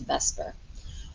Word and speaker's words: VSEPR: We pronounce it as VSEPR.